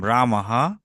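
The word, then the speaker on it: রামঃ: রাম রাম বললাম এরকম রামাহা বনাম বনাম গাচ্ছতি তহলে রামাহা বনাম গাচ্ছতি এর বাংলা কি এর বাংলা হচ্ছে রাম বনে যায় রাম উচ্চারণ করতে হবে রামাহা বানাম গাছতি রামাহা বানাম গাছতি দেখুন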